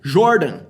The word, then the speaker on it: Jordan: É o Jordan, tá? Pronúncia Jordan. O som de J em inglês é J.